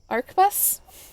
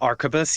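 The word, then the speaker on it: arquebus: I like it, but I don't know how to pronounce it. Arbus. Arubus. Um the archabus. Yes, that is correct.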